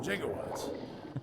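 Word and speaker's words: gigawatt: This baby must pull down some jigawatts. Takes three switches to reach maximum RPM. I love that he pronounces it jigawatt.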